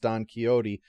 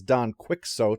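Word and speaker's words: Don Quixote: given the fact that Jeremy Paxton once pronounced Don keyote as Don quicko on television I think I'm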